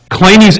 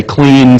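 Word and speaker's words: Kleene: has that pronunciation right in English it looks like clean and we'll be claiming it's just not know so I'm going to adopt clay knees incorrect pronunciation of his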